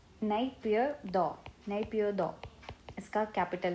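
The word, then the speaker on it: Naypyidaw: काफ़ी डिफिकल्ट है इसका प्रोनाउंसिएशन, तो नैपीदो, नैपीदो इसका कैपिटल है।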